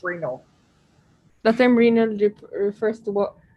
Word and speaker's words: renal: sorry the term renault refers to which organs pronounce renal the same refers to